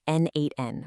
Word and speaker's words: n8n: It's pronounced N8N, by the way.